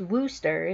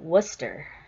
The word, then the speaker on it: Wooster: of Columbus up in Wooster Ohio it's not pronounced Wooster's it's W oo s ter all the people up there call it Worcester so it's up in Wooster Ohio up near that area so we went up